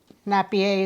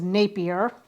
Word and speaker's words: Napier: of the Florida Gators Billy nappier is what I called him with I mispronounced his last name so his last name is Napier so I stand corrected